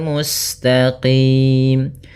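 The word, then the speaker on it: المستقيم: Tapi dia ihdinasiratal mustaqim. Kemudian musinnya mengalir mustaqim.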